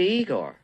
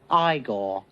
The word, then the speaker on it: Igor: say you must be Igor now it's pronounced I gore but they told me